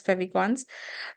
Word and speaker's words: favicon: icons Fey icons here Fons you know generally pronounced as favicons so here uh the